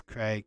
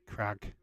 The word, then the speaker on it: Craig: is my first name is Craig but the Americans say Crag so I won't be